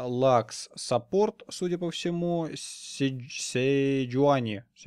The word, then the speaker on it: Седжуани: Акали в той команде мид, Дрейвен AD Carry с Игнайтом, кстати говоря, Лакс саппорт, судя по всему, Седжуани, наверное, так и правильно произносить, Седжуани джангл и Рениктон топ.